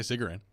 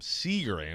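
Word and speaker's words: Cigarran: ways by the way tell me tell me the right way to say it i say cigarette cigarette yeah okay someone last week called him sea grain i'm like wait a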